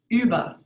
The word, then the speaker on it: über: So for example, the German word for under, unter, is pronounced differently from the U with the dots over it for the word over, über, unter, über.